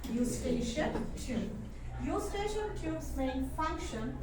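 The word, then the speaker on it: Eustachian: fings that is called u station tube even though the spelling is EU we will we will say it as we pronounce it as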